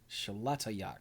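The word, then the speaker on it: Xolatoyac: Sholatoyak.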